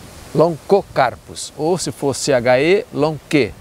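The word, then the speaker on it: Lonchocarpus: Sempre com o CH, a contração CH em latim, assim como em italiano, se pronuncia long, se pronuncia co, Loncocarpus.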